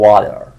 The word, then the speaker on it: water: teacher water یا میگیم water چون تی بین دو حرف صدادار اومده در زبان انگلیسی آمریکایی ما تی رو به صورت حرف صدادار میخونیم و به صورت د تلفظ میکنیم.